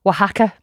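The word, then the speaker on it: Oaxaca: Yeah, it's actually pronounced waka.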